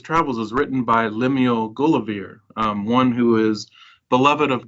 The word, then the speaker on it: Gulliver: is written by Lemuel Gulliver, one who is beloved of God, and the pronunciation of Gulliver we see in Pope's poem The Dunciad, that Drapier and Gulliver rhyme with one another, and so if you